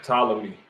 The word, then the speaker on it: Ptolemy: So it's an Egyptian dynasty of, right, as it says, pronounced Ptolemy.